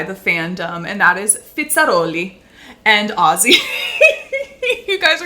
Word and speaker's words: Fizzarolli: fandom and that is fitzeri and Aussie you guys are going to be like why are you saying it like that I'm learning Italian so that's how it would be pronounced in Italian if you are Italian